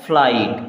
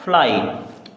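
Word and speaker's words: flight: राइट क्या पढ़ेंगे राइट एफ एल आई जी एच टी जी एच हो गया साइलेंट और ये बचा फ्लाइट क्या बचा फ्लाइट चलिए आगे देखते हैं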